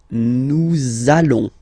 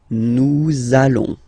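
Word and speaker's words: nous allons: So it does mean that you will have to pronounce this uh sound. Okay. Listen to me. Nalon. Nalon. Okay, that's it.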